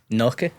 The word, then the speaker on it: gnocchi: Noki.